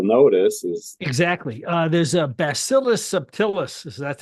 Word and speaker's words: Bacillus subtilis: There's a Bacillus subtilis. That's how you pronounce it.